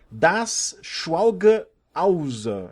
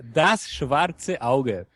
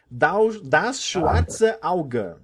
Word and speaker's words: Das Schwarze Auge: eu ver se eu não destruo muito a pronúncia, Das Schwalge Ausa, é isso? Errei tudo. Errou tudo. O nome certo é Das Schwarze Auge. Das Schwarze Auge. Acertei? Das Schwarze Auge.